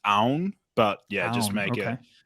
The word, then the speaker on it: Aoun: it easy for like technically it's pronounced own but yeah just make